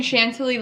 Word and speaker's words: Chantilly: going to use i'm going to be using chantilly as you can see here i was struggling with how to pronounce this but it's chantilly lace by benjamin